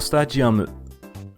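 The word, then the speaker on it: スタジアム: Wario Stadium, Wario Stadium. This track's name didn't change much, but in Japanese, the word for stadium is pronounced as stadium, with a G sound instead of a D sound.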